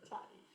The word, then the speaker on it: Ta'i: That's how it's Tahi, pronounced. Tahi.